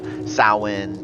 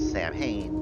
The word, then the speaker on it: Samhain: Now, this episode, because there's just so much that goes into it, from the pagan and Celtic roots of Samhain to the eventual Roman involvement, the Christian colonization of it, like, there's a lot that goes into the history of Halloween.